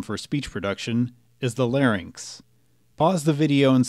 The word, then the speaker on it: larynx: The main structure of the phonatory system for speech production is the larynx. Pause the video and say it with me. Larynx. Note that the correct pronunciation is larynx, not larynx.